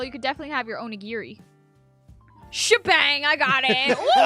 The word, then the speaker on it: onigiri: Onigiri.